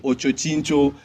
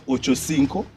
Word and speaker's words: Ochocinco: I hear people saying Ochochincho. Like, what the fuck? Like, do people, I'm sorry for even cursing, but do people actually know that is Ochocinco and that it means 85?